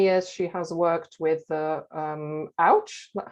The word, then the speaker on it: OWCH: And for many years, she has worked with OWCH, that's how you pronounce it, Older Women's Co-Housing Group, who at the end of 2016 moved into Newground Co-Housing in North London.